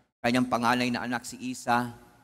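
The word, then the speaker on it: Esau: panganay na anak si Isa. Akala ko nga Isaw ang pronunciation, Isa pala ang pronunciation.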